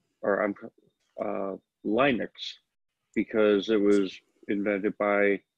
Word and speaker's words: Linux: looked at that through I apply that to Linux so I've been saying I've finally given up and I say Linux but when um if when the operating system first started getting notoriety I call it Linux or I'm uh Linux because it was invented